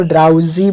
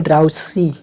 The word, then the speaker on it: drowsy: Pronounce इसको ड्राउजी बोलेंगे, ना कि ड्राउसी।